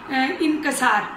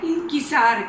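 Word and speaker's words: انکسار: Number 2 पर हमारे पास है इंकिसार, और हम नॉर्मली पढ़े लिखा तबका भी इनकसार मतलब इस प्रोनाउंसिएशन के साथ बोलते हैं। तो असल लफ्ज़ क्या है? इंकिसार। काफ के नीचे ज़ेर है और अलिफ के नीचे भी ज़ेर है।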